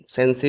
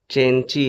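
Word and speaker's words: The Cenci: दी चेंची अ tragedy इसको आप ससी भी कह सकते हैं लेकिन एक्चुअल प्रोनाउंसिएशन इसका चेंची है।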